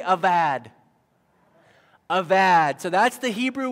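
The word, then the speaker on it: עבד: In Hebrew, you pronounce that B as a V. So everyone say avad.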